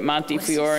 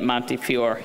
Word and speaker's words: Montefiore: she joined the division of pediatric surgery at Monty Fior and she asked me to pronounce it correctly in the Bronx um and is the program director of the general surgery residency at Monte Fior in the Bronx she's currently in the Einstein